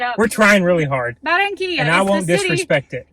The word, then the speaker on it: Barranquilla: Pronounce the city. Barranquilla. Better Mary not, is 'cause going to there's two slaughter R's. me. I'm sure I messed that up. We're trying really hard. Barranquilla.